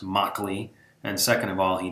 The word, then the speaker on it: Mauchly: of all known that his name is pronounced Mok Li and second of all